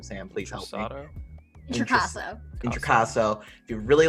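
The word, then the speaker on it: Introcaso: Intricasso.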